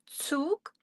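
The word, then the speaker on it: Zug: We pronounce that touk for train or you can say eisenban for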